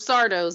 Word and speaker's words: Sardo: Sardo's magic shop, like on Are You Afraid of the Dark? Sardo! No Mr. accent on the dough.